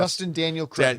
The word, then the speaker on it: Destin Daniel Cretton: And you know, Dustin is it Dustin Cretton? You know, I was How do you pronounce Dustin Daniel Cretton.